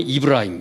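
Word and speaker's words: إبراهيم: 자기들의 조상이라고 생각해 그 거기는 발음이 이브라힘 이브라 그 축구 잘 모르시겠지만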